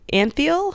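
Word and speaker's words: Antheil: composer George and the Anfield I think his name is how you pronounce it it's a n th e il received a patent for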